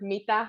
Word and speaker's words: mitä: Mitä. I think that's, it's a very in the front kind of a word, but it's very quick.